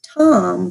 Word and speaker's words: tam: Yes, so it's Tom, but it's spelled T-A-M.